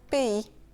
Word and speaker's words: pays: Le S final est silencieux et le Y, il est en quelque sorte un double I. Le premier I se lie avec la lettre A pour faire le son E, P, et le deuxième I se prononce tout simplement comme I, pays.